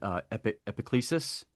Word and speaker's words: EPICLESIS: was how do you I'm sorry if I mispronounce it. EPICLESIS. Right. Yeah, yeah. EPICLESIS.